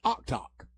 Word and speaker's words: Oktoc: And one said he's heard it every different way, and another one said it's Oktoc.